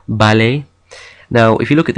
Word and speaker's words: ballet: Words that end in ER or ET are pronounced A, like in jouer or ballet.